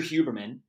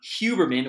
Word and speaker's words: Huberman: our conversation from Andrew Huberman. We go back and forth on Huberman or Huberman. It's almost like in Spanish, the H is silent.